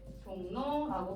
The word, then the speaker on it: 종로: 산모듬에서 얘기했던 것처럼 이번에는 종로라는 단어가 있었어요. 종로라는 단어를 보시면 자, 이응이 비음이죠. 비음이라는 단어가 리을이라는 비음이 아닌 단어를 만나서 발음이 종로라고 바뀌면서 비음이 됐어요.